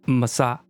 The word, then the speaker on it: Mahsa: name so you would her name as she would say it is massa but i think in